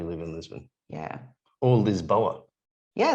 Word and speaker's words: Lisboa: in lisbon yeah or lisboa yeah they call it lisboa actually lishboa oh so their uh